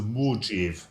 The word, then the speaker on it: Mojave: You're pronouncing that wrong. It's the Mojave.